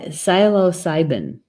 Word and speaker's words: psilocybin: thank you Arab for telling me how to pronounce that well site psilocybin thank you good one magic mushrooms oh I